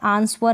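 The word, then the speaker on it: answer: हो गया नेक्स्ट है कुछ स्पेलिंग होती है वहां पर डब्लू का उच्चारण नहीं होता जैसे की स्पेलिंग देख लें आप आंसर में ऐसा है आंसर नहीं पढेंगे आंसर पढेंगे सोंठ में भी ऐसा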